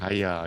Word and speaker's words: hyaluronic: Haya. Is it Yeah. Haya? Not Hya. Is it? Haya. Haya.